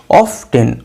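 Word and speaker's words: often: এটাকে আগে পুরানো যুগের ইংলিশে অফেন উচ্চারণ করা হতো, অফেন অফেন, কিন্তু মডার্ন ইংলিশে এখন এটাকে কেউ আর অফেন প্রোনাউন্সিয়েশন করে না। কি প্রোনাউন্সিয়েট করে? অফটেন অফটেন।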